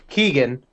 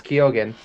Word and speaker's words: Barry Keoghan: barry keoghan yeah we which we've been saying his name wrong we've been saying it keegan it's kyogen um and i mean he